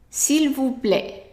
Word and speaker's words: s'il vous plaît: So it is s'il vous plaît. S'il vous plaît. Remember the S is silent and the T at the end is also silent.